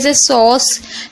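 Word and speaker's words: sauce: तो क्वेश्चन हो गया इसी तरीके से सॉस एस को सा पढ़ रहे हैं ए यू को ओ पढ़ रहे हैं और सी को सा पढ़े हैं लास्ट वाले को हम पढ़ते नहीं है साइलेंट रहता है इसलिए तो इसे देखिए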